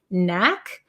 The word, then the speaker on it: knack: spelling of this one Knack um Knack is it has a k but we don't pronounce it so it's the same as um the word no or knee there's a silent k